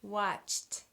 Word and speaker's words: watched: I choose this one: watchT, watchT. CH, CH, CH-T, watchT. That's really hard to say, and it's hard to not put another syllable in there because we have so many consonants together, but watchT.